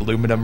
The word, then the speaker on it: aluminum: try to tell me that I'm pronouncing aluminum wrong because I instead I could be British and add in an extra two syllables where they don't need to be added and say aluminium.